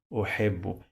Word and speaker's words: أحب: If I add this dhamma, pay attention, this dhamma, it sounds like O, right? So I'm gonna add this dhamma here. Now it will add for me the sound of O after the second B that I pronounce, which is ba in Arabic.